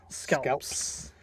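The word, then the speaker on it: SCALPSS: now we have the I don't know if you'd pronounce this by its letters or its name it's the scap scaps scalps scalps it's the s c a l p P SS okay scalps uh will capture images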